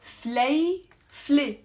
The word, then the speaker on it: فليفلة: هيدي فليفلة حرة فليفلة okay that's how you pronounce it two syllables فليفلة.